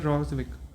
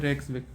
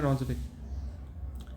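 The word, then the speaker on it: Reykjavík: और इसकी जो कैपिटल है उसका नाम भी है रॉजविक, ये यहाँ पे लिखा हुआ है रेक्सविक, प्रोनाउंस करते हैं रॉजविक।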